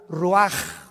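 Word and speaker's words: רוּחַ: Roach así como suena se pronuncia la c en hebreo como J ruaj se le só y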